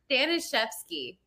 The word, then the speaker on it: Staniszewski: Growing up, we had to get used to, you know, spelling it out for everybody, pronouncing it, because the Z-E-W is, you know, silent, the Z, yeah.